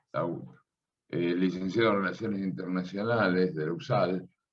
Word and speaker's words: Lahoud: ¿Está bien pronunciado? Lau. Sí, sí, así, perfecto. Lau.